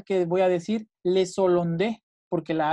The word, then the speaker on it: hollandais: Por ejemplo, en este caso, nunca dicen les hollandais. Siempre dicen le hollandais. Los holandeses, le hollandais, siempre separado. O sea, no hacen liaison.